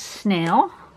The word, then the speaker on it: Sneil: was this thing's name this thing's name was snail but it is spelled ass and I L okay here we go